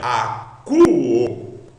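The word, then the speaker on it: ἀκούω: Quando você encontrar o ômicron com Y, você sempre lerá u.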